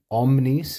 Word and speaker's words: omnis: it works and qu omnis notice I pronounce this long because it is accusative omnis per exus this